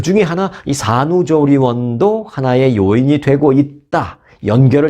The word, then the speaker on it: 조리원: 것 같아요 스펠링은 이렇습니다 jor R ion 한번 발음해 보세요 jor ion 갑자기 또 미국식으로 발람 하은 거 아니에요 조리원 그러시면 안 되고네 한국말로 조리원입성이 생각하시는 여러분들이 아시는